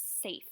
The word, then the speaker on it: safe: S, A, long A, F, E. That E makes the A have the long vowel sound.